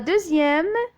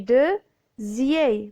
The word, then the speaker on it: deuxième: La deuxième, donc vous avez la lettre D avec le son E qui s'écrit avec E-U. Donc on dit deuxième. La lettre X ici, elle se prononce comme la lettre Z.